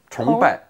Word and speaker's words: 崇拜: It's pronounced in the second tone. 崇. 崇拜.